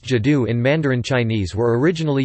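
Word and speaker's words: 基督: The two characters now pronounced Jidu in Mandarin Chinese were originally used phonetically to represent the name of Christ.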